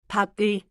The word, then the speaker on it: 밥을: So, 밥을 is grammar plus pronunciation. Grammar says object marker, pronunciation says link it. Exactly. And in a full sentence, the object chunk stays connected before the verb 밥을 먹어요.